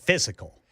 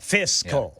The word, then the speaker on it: fiscal: So you were calling it physical. I wasn't saying physical. I wasn't doing 3 syllables. I was saying physical. Fiscal. Yeah, Fizz. You were Z-ing instead I was of S-ing. Z-ing instead of S.